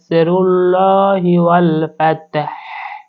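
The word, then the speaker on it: وَالْفَتْحُ: করতে হবে ওয়াল ফাত একেবারে শেষে গিয়ে আমাদেরকে হাটা উচ্চারণ করতে হবে ওয়াল ফাতাহ ওয়া জবর ওয়া র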